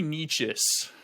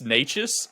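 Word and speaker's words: Nečas: Marty Necas, my boy. I know you think it's Necas, and it could honestly be Necas, but I've heard so many announcers pronounce him Necas, so I'm going with Necas.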